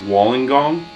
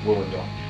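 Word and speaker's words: Wollongong: I think my favorite show of the Australian tour was Walling Gong, if that's how you say it. It's just it was a very tiny room. No, not how you say it. Woollingong.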